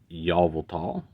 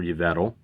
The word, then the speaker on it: Yveltal: And then Yveltal, or Yveltal, or whatever syllable you want to put your emphasis on to pronounce it.